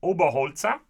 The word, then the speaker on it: Oberholzer: So, the story of West Overton begins with Heinrich Oberholzer, that's how you pronounce his name in German, whose name was turned